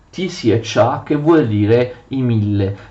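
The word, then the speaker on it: тисяча: Si scrive così, ma si legge Tisiacha, che vuol dire i mille.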